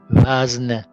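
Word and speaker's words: وزن: And also we have v, a, z, n, wazn.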